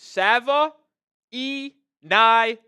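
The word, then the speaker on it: Savaiinaea: When I looked at the sheet of the draft, it said the way to spell it out is S-A-V-U-H, Sava, E, just E, I, or Nye, excuse me, like Bill Nye, the science guy.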